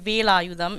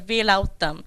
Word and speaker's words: Velayudham: to pronounce your name, my name is Velayudham. It's spelled, they pronounce as Velautham.